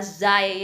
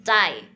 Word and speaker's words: cai: Nah, pinyin yang ada setnya ini artinya harus dibaca C ya. Tidak boleh baca zai ya. Bukan ini bukan zai tapi cai ya.